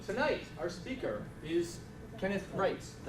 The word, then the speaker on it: Reitz: so tonight our speaker is Kenneth rits did how you say it right yes yes